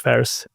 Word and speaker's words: Faris: quicker I love that thank you so much Ferris did I pronounce this correctly yes you do thank you